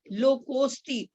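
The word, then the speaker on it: लोकोऽस्ति: जहां भी एस आ गया वो साइलेंट है। लोकोस्ति, ओ के बाद आधे स की आवाज आएगी। लोकोस्ति।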